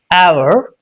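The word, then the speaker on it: hour: Similarly, where H is silent and sometimes it's not pronounced in the beginning of a word.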